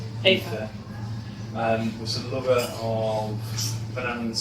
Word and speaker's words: Aoife: But Aoife, which I forget is I think how it's pronounced, Aoife, Aoife, was the lover of Manannan's son, Ilbrek, in one story.